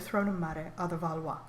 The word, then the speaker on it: Valois: Valois.